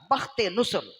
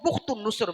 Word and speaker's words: بخت نصر: مقرر ہو گیا، اور وہ ظالم بادشاہ تھا بخت نصر، یا اس کو بخت النصر بھی کہتے ہیں. یہ اس کے تلفظ میں سے ہے، آپ آسانی کے لیے بخت نصر ہی سمجھ لی.